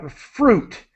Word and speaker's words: fruit: um now uh what fruit so it's an ooh sound the really the yeah the I is silent so I'm saying um